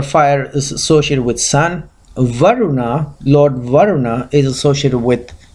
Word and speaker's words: Varuna: This is how it's pronounced, Varuna.